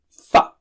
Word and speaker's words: فَ: Touch the lower lip to the edge of the upper teeth. Fa.